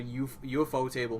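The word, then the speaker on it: ufotable: course because it's a UFO table movie and I've decided that is how you pronounce it because the literal company is based on a table that looks like a UFO so I whatever the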